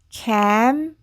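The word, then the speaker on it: campaign: 그리고 P는 프 그리고 여기에 A도에라고 소리가 나서이 단어는 캠페인 캠페인 캠페인이라고 읽으시면 되겠습니다.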